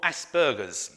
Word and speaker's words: Asperger's: action for Aspergers now Asperger's has got a hard G although you will hear me say Asperger's as well as Asperger's I've been saying the word so long now the wrong way that is quite hard for me to say it the